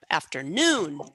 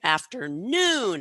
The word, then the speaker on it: afternoon: has a pitch jump afternoon afternoon it kind of jumps up there okay so this is referred to as primary stress if you look at a dictionary an online dictionary you're going to see a little Mark generally um above and just before noon to show that that is the stress syllable yesterday again stress on